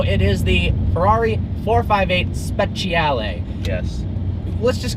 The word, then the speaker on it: Speciale: Like, Speciale. Yeah, he loves Ferraris. So. That is how it's pronounced, though.